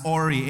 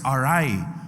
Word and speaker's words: awry: sermon title is called when the world is arai, God shall be the ultimate authority. When the world is ari some may pronounce this as ori a w y but the pronunciation of that word is arai.